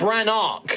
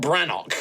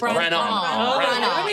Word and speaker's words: Branarch: So, it's Bran Arc, not Branok. It's Branarch.